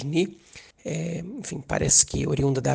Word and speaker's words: Nu: Hoje de manhã o governo israelense anunciou que tem o primeiro israelense infectado pela variante Ni, se escreve NU, mas se diz Ni.